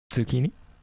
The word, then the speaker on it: Zeuqini: one not three two zucchini no zucchini not like well it's pronounced like the vegetable but it's z-e-u-q i